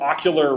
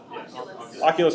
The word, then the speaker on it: Oculus: never he hear of but um it's called ocular Rift right Oculus no ocul am I saying it right Oculus okay how many people have heard of oculus